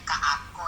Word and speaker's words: Kaako: Ya, jadi Ya sensei, tapi kalau yang A-nya 2 dibacanya Kaako sensei.